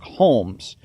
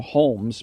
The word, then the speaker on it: Holmes: name house is since a synonym for home which is how Holmes pronounces his name although with an S at the end the medical initials in houses named doctor and MD are also those of dr.